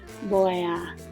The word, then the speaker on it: voy a: Remember, the V almost sounds like a B in Spanish. Sometimes I say it more of a V in class, so that we'll remember to start with the B, but they would pronounce it voy a.